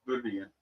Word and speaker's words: birria: Birria, yeah. But anyway. It's birria. Birria, whatever. It's birria. But I can't know my R's.